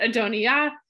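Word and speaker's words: Adonijah: this this disagreement between adonia or as the text will spell it a dhoni jaw but adoniyah and solomon so adonia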